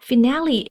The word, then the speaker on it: finale: So be mindful of the pronunciation is finale. Usually the letter E at the end of the word stay silent, but here it is not silent.